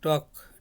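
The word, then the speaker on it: talk: তারপরে টক, TLK, টকড। টক অর্থ TLK, রেলের উচ্চারণ হয় না, টক অর্থ কথা বলা।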